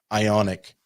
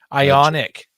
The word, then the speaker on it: Ioniq: gt version of their ionk or i i i don't i i in how do you pronounce that ionic ionic it's not just ions that's right jake jaden says